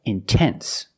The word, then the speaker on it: intense: to pronounce the T example intense I put the stress after the NT so I have to pronounce a t I cannot say in